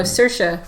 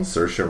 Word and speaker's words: Saoirse: You told me how to pronounce her name before we started. Oh, Saoirse Ronan. Saoirse Ronan was really, really good.